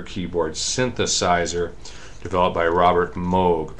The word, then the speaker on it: Moog: move synthesizers excuse me mo we're supposed to pronounce the word moge that's mo oh gee an original style of computer keyboards synthesizer developed by Robert moge pronounced mo I'm just pronounced it all the